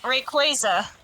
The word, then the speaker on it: Rayquaza: It's based on the term Quasar. Okay, so yeah, I was wrong. So y'all were right. Yes, got it. Yeah, Rayquaza.